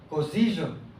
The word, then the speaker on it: Cosiyo: con y es un poco más común y se parece, digamos que con y podemos pronunciar cosillo, como si dijéramos yo, yo, ese sonido yo, yu, es tiene una fricción ahí cosillo, pero también las palabras cambian, ¿no?